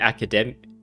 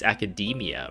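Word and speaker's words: Akademiya: be from the Academia I keep pronouncing it academic Academy I think but it's Academia apparently oh some time ago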